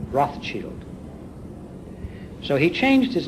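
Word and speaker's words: Rothschild: for the family business the German words for red shield I believe if I'm pronouncing this correctly are Roth Shield so he changed his name from bow to Rothchild as we call it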